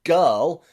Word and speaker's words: girl: GI here in girl and GI in give have that G pronunciation, which we will learn in a minute. But they are exceptions.